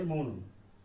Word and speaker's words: মৌন: ওকে, আর এটা হচ্ছে মৌন, মৌন অথবা গৌণ।